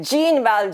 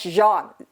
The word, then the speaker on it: Jean: it's it looks like geneva gene correct but this is a french name in france e j-e-a-n is pronounced as jean like z-h-o-n all right